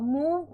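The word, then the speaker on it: move: जब किसी शब्द में O और VE का संयोजन होता है, तो O का उच्चारण क्या होता है? यह 'ऊ' बन जाता है। जैसे हिलना-डुलना। अब मूव में, O का उच्चारण क्या है? यहां क्या हो रहा है? 'ओ' अक्षर अब शांत हो रहा है। यह एक चाल है, है ना?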